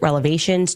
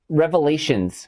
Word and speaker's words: revelations: I have so many explosive relevations to share with you. Oh, wait, wait, no. Uh, it's revelations.